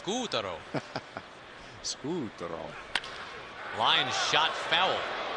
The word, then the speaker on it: Scutaro: into last night who wants to make sure that we pronounce his name scootaro yeah except again the fly in that ointment is when we asked him in oakland back in april he said it's scutaro lyon shot foul